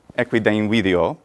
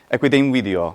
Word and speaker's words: equidem video: a more technical term, the merging of two syllables together. So equidem and in video, equidem video, equidem video.